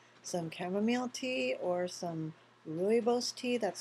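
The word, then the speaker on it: rooibos: in it have some chamomile tea or some ruos tea that's spelled r o o i b oos it's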